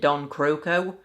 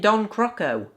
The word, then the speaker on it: Don Croco: oh yeah happy time remember in hugo book resume when i doubted the way that i've been pronouncing dong Krakow's name all this time because in that game the pronounced it dong croco well guess what in Hugo Canon Cruz he's back to be in Don croco Don croco a mouthful